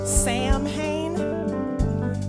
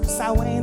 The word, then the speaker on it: Samhain: Now, Samhain, some of y'all might think it's pronounced Samhain. It's Samhain or Samhain if you are of the Wiccan faith tradition.